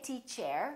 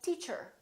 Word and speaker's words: teacher: to talk to her or teacher don't say tea chair say teacher she's a good teacher a R as in